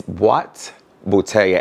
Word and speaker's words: boîte bouteille: It's Boîte bouteille, and basically boîte is a box and bouteille is bottles, and I got this to hold cologne.